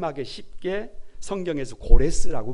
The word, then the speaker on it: 고레스: 사실입니다 성경은 그를 그냥 발음 하게 쉽게 성경에서 고레스 라고 발음을 합니다 그의 어머니가 있어요 만다 내라고 하는